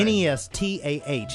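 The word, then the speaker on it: Nestah: Sounds of Addiction is in the studio with and I'm going to say it like this because, you know, reggae, we have a different kind of vibe on names. It's Nesta. That's right. N-E-S-T-A-H.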